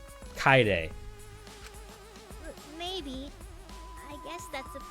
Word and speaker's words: Kaede: name is kaide and they say kai day that's how you pronounce that name you're not allowed to